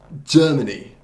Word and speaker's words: Germany: 그래서 첫 음절을 Germany. 그래서 첫 음절을 강제하는 거예요.